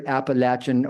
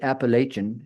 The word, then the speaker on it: Appalachian: I call it either Appalachin or sometimes Appalachian if I'm not paying attention. Uh, linguists say that how you pronounce it depends on where you grew up. In the region, it tends to be pronounced Appalachin.